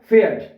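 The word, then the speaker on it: Pferd: है ठीक है अच्छा पी जो है ना इसको आपने पढ़ना है फे फे ठीक है जैसे के क्या बनेगा फेट ए फे एफ कट्ठा आ गया तो ये बन गया फेट फेट फेड क्या होता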